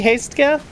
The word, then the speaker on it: Hastega: It's possible it should be hasta. I don't know. I guess I've always pronounced it hastega, but you're not wrong that it should probably be silent cuz it's silent in the root word.